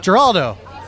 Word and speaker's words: Geraldo: pronounce your last name Geraldo Geraldo like Heraldo but with the hard G but like in English